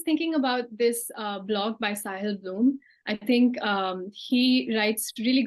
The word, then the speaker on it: Sahil Bloom: So it's Sahil Bloom. Sahil Bloom.